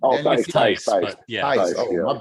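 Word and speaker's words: Theis: Oh, Danny Tice.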